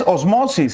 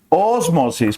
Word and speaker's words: ósmosis: No es osmosis, ¿ah? Ósmosis, palabra esdrújula, terminada en vocal o consonante, se tilda, ¿ya?